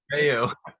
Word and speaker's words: Calderaio: Caldero? Calderaio. Calderaio, Caldario. Okay. sir. It's Italian, so of course it's hard to pronounce.